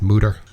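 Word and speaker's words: Mütter: I love that place I always thought it was murder but it's actually pronounced mooder well I've been [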